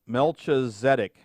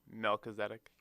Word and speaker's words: Melchizedek: priest named oh there's the word again mel melchizedek melchizedek um i bet uh jim weining or dr paul know how to pronounce that um melchizedek you were pretty close